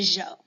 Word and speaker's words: Zhou: And I know that it's spelled with a Z, and I know, kind of like Miss Lewis was saying, sometimes the pronunciations in China can throw us off. But this one I always remember, Zhou. It kind of sounds like a French guy trying to say the name Joe.